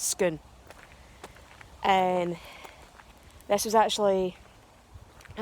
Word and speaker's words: Scone: the National Police Nimitz pelts gone but it's pronounced skin and this was actually it was originally a